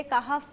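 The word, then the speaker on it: کہف: अच्छा अच्छा बुशरा साहिबा इन्होंने अभी जिक्र किया कि सूर एक तो उसका प्रोनाउंसिएशन काफ है या कैफ है? काफ काफ।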